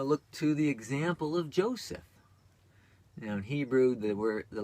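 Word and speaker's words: José: And I've, you know, look to the example of Joseph. Now in Hebrew, the letter J is pronounced like a Y. In Spanish, it's like an H.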